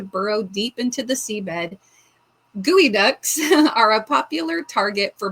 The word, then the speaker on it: geoduck: All right, let's look up geod duck for those of us that don't know. Geod duck. Oh, gooey duck. Okay, it's pronounced gooey duck.